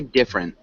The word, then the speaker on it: different: you repeat different different oh that e is silent so we'd say different different good different um